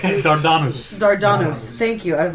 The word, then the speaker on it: Dardanus: Let's agree to pronounce it in a much more Greek way. Dardanus.